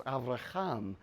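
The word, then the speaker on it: אברהם: multitude with that character it's the h sound so avram becomes avraham abram abram becomes abraham abraham however that works don't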